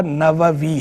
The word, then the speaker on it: نووی: زیادہ استعمال نووی ہے۔ لوگ غلط طور پر اسے نووی کہتے رہتے ہیں یا نووی کہتے رہتے ہیں، یہ درست تلفظ اس کا نووی ہے۔ نوا بستی تھی، اور جب نسبت اس سے استعمال کریں گے اس میں منسوب تو بنے گا نووی۔ تو امام نووی رحمہ